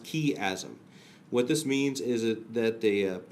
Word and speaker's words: chiasm: It's pronounced chiasm.